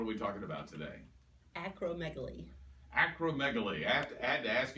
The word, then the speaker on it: acromegaly: Acromegaly. Acromegaly. I had to ask you how to pronounce that because I was looking at it in your notes for me, and I thought, acromegaly?